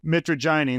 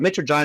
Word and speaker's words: mitragynine: And then, I'm going to butcher the name, but I think it's called like mitragynine. Ben G: Mitragynine.